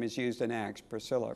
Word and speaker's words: Priscilla: Of course, the diminutive form of the name is used in Acts, Priscilla, Priscilla. It's a hard C in the Greek. In other words, it's a kappa.